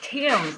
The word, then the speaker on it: Thames: and we have Nancy Thames did I I pronounce that correctly Nancy it's Tims like the Tims River Tims I knew I